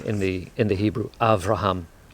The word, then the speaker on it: Avraham: the in the Hebrew Avraham so the B becomes a V and actually the B